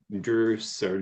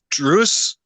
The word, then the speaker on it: druzy: official spelling looks like Drew sir Drew's uh-huh which when we were talking before the podcast Theo says is apparently also correct yep yeah there's uh druce Drews and druzy are all correct pronunciations like if you Google